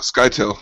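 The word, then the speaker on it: Scytale: since i've read it but uh it's uh skydl the face dancer is that how you pronounce his name uh sky till yeah i tell ya so you have him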